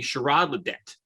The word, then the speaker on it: Shirrod Le'Det: host kevin and today i have with me sherrod ledette did i pronounce that right you did yes sir okay